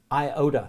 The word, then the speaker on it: iota: but what I want you to remember is I ohta so it's iota ADA Sigma now you notice